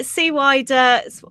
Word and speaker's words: CWIDER: Yeah. See wider whatever is more comfortable.